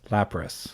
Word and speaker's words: Lapras: terrible lapras that one i have heard la prez i've heard brass or lapras some people say lap brass because it has an as at the end press lap brass lapras i say lapras yeah oh this one is